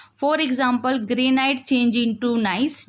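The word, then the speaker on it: gneiss: For example, granite change into nice. जो granite है वो नाइस में चेंज हो जाता है, यहाँ पे बेटा जी साइलेंट है.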